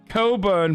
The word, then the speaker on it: Cockburn: and his poor son henry cockburn pronounced coburn by the way oops tell your children